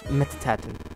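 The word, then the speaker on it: Mettaton: with metaton presence mettin it's it's pronounced mettin yellow yellow I need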